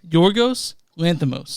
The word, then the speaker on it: Yorgos Lanthimos: it correctly Yos how do you say it yorgos Lanos yorgos loros Lanos Lanos good job that's director